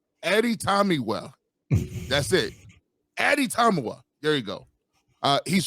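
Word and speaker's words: Adetomiwa: I don't know how to spell it it's pronounced atatama no Addy time Eddie Tommy well that's it Addy tamua there you go uh he's from Northwestern we're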